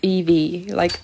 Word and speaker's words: Evie: I don't know if that makes any sense, but yes, it's pronounced Evie, like the Pokemon. Evie.